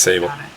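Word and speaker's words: Sabyl: find a way to get Sable in Sable or civil s along with multiple personalities I might it's spelled s-a-b-y-l so I'm just going to save it yeah it's Sable yeah that's fine you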